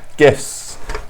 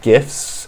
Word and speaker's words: GIF: GIFs, we will be pronouncing it GIFs. If you pronounce it GIF, sort your life out.